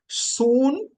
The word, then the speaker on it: synchraomai: And it is pronounced Sunchreomai. Sunchreomai. Sunchreomai.